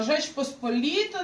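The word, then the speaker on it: Rzeczpospolita: Там, де Rz читається ж. То, що я вже казала. Жеч посполіта, наприклад, жекаріка.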